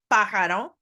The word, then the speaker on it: pájaro: A bird is a pájaro. Don't forget the accent on the first A.